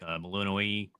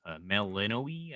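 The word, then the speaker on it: Melinoë: But, um, yeah, all the characters that they show or main characters in in the game, like Melinoi, Melinoi, I think is how you say her name.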